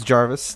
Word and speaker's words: Jervis: leave jarvis or Jervis I think it's Jarvis that thanks I think that's the proper pronunciation the proper British pronunciation anyway and anyway let's get